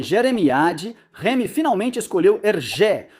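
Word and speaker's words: Hergé: Inicialmente experimentando Jeremy e Jeremiad, Rem finalmente escolheu Ergé, um nome inspirado na pronúncia francesa de RG, suas iniciais invertidas.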